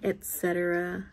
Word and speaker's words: etcetera: but it's happened before it's called etcetera not instantaneous whatever i was trying to say so yeah i just wanted to clarify that it's etc the reason why i said it wrong was because the way it was spelt um i think that has